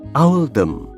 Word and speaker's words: Oldham: Pilihan ini dibuat untuk mencerminkan pelafalan Oldham dalam aksen lokal, yaitu Owldham.